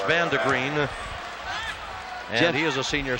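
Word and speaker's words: Vandegrind: V-A-N-D-E-G-R-I-N-D, but pronounced Vandegreen.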